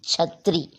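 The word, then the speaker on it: छतरी: Chhatri.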